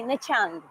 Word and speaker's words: Nha Trang: Nha Trang City, or they say Nha Trang. Nha Trang. They don't pronounce R, but we do it sometimes.